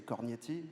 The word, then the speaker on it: Corti: me you asked me how to pronounce my family name I say Corti uh but actually it's